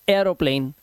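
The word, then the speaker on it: aeroplane: बट यहां पर देखिए ए ई के बाद यहां पर आर है, तो अब यहां पर इस ए ई के बाद जैसे ही आर आया तो इसका जो उच्चारण हुआ वो एया हो गया, तो हम इसे पढ़ते हैं एरोप्लेन, ना कि ई।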